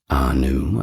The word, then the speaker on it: Ea: he was often represented by a horned crown too, kind of like Anu, but perhaps not as grand.